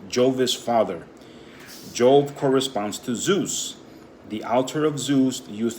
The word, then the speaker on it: Zeus: of nimrod and simarimus Zeus was originally pronounced de Zeus the as in David Zeus z-e-u-s okay I was starting